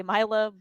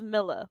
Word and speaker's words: Milla: I will probably still say Mila, but it is Milla like millions.